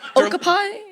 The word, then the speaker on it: okapi: Like I Okapi. Oh, sorry. I don't know. Okay. O k a pi. Don't know how to say I said okapi, but I don't know. I say okopy.